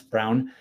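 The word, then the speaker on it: Colin Braun: You want to see a brilliant lap at Mosport, go to YouTube and find Colin Brown, B-R-A-U-N. Most people pronounce it Braun, but it's Brown.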